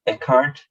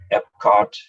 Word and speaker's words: Eckhart: Yeah, my name is pronounced Eckhart, so it's not, people call me many different names because they can't pronounce my name. I mean, I had everything from Epcot to apricot and Eric, and so yeah, the right pronunciation.